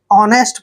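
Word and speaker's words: honest: और टी को ट ऑनेस्ट नेस्ट नहीं पढ़ना है ऑनेस्ट पढ़ना है ऑनेस्ट होता है ईमानदार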